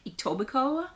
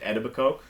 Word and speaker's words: Etobicoke: anybody why you don't why you don't pronounce that last K but you know I